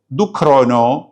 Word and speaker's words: ദുക്റോനോ: സുറിയാനി ഭാഷയിൽ പറയുന്ന പേര് ദുഖരോനോ എന്നുള്ളതാണ് ഈ വാക്കിന്റെ കിഴക്കൻ സുറിയാനി ഉച്ചാരണ രൂപം ദുഖാന എന്നാണ് ആ വാക്ക് ലോപിച്ചാണ് ജൂലൈ